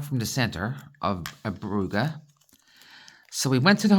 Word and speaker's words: Brugge: in um Belgium called buuga b r u g g e but you might hear it pronounced Brugge b r u g that's the French pronunciation for said City because yep one city